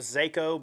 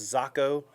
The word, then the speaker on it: Zako: A lot of people call it the Zako, but it's pronounced Zocco in Japanese.